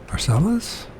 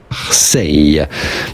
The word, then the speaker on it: Marseille: Marcellus? Oh, don't make me do this. Marseille? Is that how you pronounce it? Marseille, but you can say Marseille. Marseille. The typical French pronunciation, Marseille.